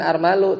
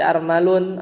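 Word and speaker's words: أرمل: Jadi dia itu bacanya bukan armalu, tapi armalun atau armalin munsarifun lianna muannasahu.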